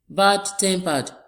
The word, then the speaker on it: bad-tempered: Bad-tempered. Bad-tempered. We have the stress on the first syllable as well of the second word.